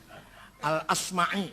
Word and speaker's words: al-Asma'i: Dino adetina war-nya lagi al-asma'i gak ada asma asma Hai az-zabidi bukan zubed